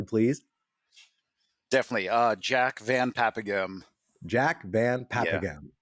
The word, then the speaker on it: Jack Van Paepeghem: Jack Van Paepeghem. Jack Van Yeah. Paepeghem. I Pronounced hope I many got ways.